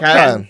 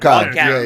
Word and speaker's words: Catton: Like this year's Worlds, Rob Catton, is that how you say his name? Rob Catton. Yeah, Rob Catton.